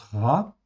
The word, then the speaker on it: רע: super intéressant ok donc le mot RA je rappelle ça se prononce RA ok c'est Resche a in en fait ici